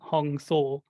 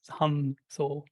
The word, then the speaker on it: Soham: So if you're mentally saying Hong Saw, it is the same if you're mentally saying it Hum Saw.